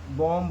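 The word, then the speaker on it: bomb: कब साइलेंट होता है, बी तब साइलेंट होता है एम के बाद, एम के बाद कभी भी बी आए, एम के बाद कभी भी आए, बी आए कभी भी, तो हमारा बी साइलेंट हो जाता है।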